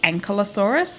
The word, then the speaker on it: Ankylosaurus: And then there are heaps of YouTube videos that say Ankylosaurus, like a human ankle, and then just add osaurus on the end. And then a bunch of other videos that say Ankylosaurus, or Ankylosaurus.